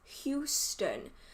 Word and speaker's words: Houston: wrong like it's it i know that it's houston but because i'm british i just say who's stunning it doesn't really work